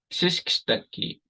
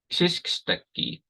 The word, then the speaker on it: xisksteki: But we never have KX sound at the beginning in English. So this word is rather difficult for a lot of people. But it's pronounced xisksteki, xisksteki. And this is an excellent word to use to practice, the KS sound.